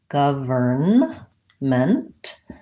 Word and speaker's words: government: other words were government govern ment and in this case we have a vowel schwa first syllable stressed government and the vowel sounds like ah so thinking about it